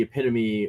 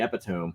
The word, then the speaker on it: epitome: turn into bones uh which is like the epitome or the epitome I should say because that's the actual pronunciation of the word of what you know